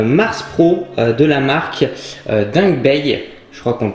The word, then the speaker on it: Dangbei: du vidéoprojecteur le mars pro de la marque dingue Bay je crois qu'on prononce comme ça donc on va voir ensemble